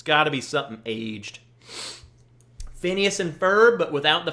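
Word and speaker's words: Phinehas: And then Phineas, it's spelled P-H-I-N-E-H-A-S, Phineas, The Fire Itself.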